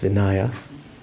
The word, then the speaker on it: Vinaya: higher trainings or the the basket of vineya the uh discipline or sometimes pronounced vinaya Vayapitica, Venopitica and the